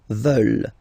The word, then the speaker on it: veulent: And the last one, here EU, and then ENT, classic ending, but then you don't pronounce it, so you get veulent.